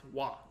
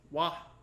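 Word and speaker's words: は: ha okay but here when you use it as a particle it's pronounced wah now this is the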